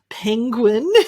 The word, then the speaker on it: penguin: And the next word, this cute little animal, penguin, the pronunciation is pen, just like a pen.